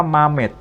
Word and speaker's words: Mamed: Jadi, * Mamed Eponomatsomenos*, ada sosok bernama Mamed. Bahasa Yunani tidak memiliki huruf 'H'. Jadi nama Muhammad menjadi Mamed. Mamed.